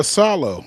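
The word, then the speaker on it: Iisalo: Yeah, Salo. So you pronounce both the I's there.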